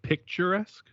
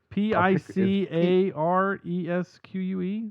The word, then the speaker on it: picaresque: no there's no t but there's it's spelled weird p i c a r e s q u e there's no t it's almost like captain picard like pick picares picaresque oh that's amazing